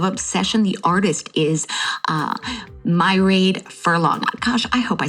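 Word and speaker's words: Mairead: The artist is uh Myerade Furlong. Gosh, I hope I said that right. She's The artist said, "You pronounce her name like Lemonade." So, it's M A R E A D. Married Furlong.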